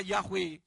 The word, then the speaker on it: Yahweh: Karena mereka sangat menghormati nama Yahweh. Tapi karena hurufnya Yod dan He, mereka tidak berani mengganti. Maka mereka mengganti dengan tanda baca. Diberi sewa. Titik 2 sehingga bacanya Y. Nah saya kembalikan supaya berbunyi Yahweh.